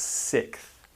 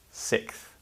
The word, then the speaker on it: sixth: just pronounce it as sixth the x becomes a k the x becomes a k sound sixth then we have seventh